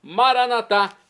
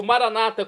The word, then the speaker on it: Maranata: e agora eu clamo maranat como dizemos nós católicos ou Maranata como dizem nossos irmãos separados os evangélicos ou protestantes não importa pronunci significado